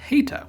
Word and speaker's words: heta: The Greek letter was originally called heta, with an H sound at the beginning.